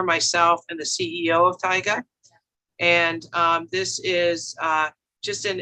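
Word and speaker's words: Taiga: The best way to remember how to pronounce this company is it's Tyga, like tiger without the R. Tyga.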